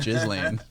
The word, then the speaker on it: Ghislaine: That's how you actually pronounce it, Ghislaine.